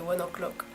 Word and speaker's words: ONE OK ROCK: C'est comme ça que c'est censé se prononcer, vu que c'est un groupe japonais, c'est One O'Clock.